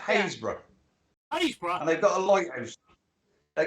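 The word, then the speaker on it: Happisburgh: Iceberg no it's not it's pronounced hayesboro I was gonna say I was gonna say um Hasbro another's pronounced Hayes bro they've got a lighthouse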